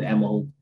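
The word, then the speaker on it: Älmhult: So IKEA started from this small town pronounced Emerald. I know we all struggle with our Swedish pronunciations, with Emerald, which is a town in Småland in southern Sweden.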